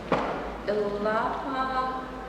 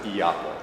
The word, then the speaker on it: Ilapa: Ilapa? I'm sorry. How should I have said it? It's pronounced Iapa, but I know it's spelled Ilapa.